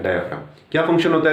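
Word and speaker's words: diaphragm: डायाफ्राम, यहां जी silent होता है, डायाफ्राम।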